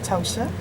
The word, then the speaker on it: Ptosha: But he didn't say Ptosha with a P, Davis.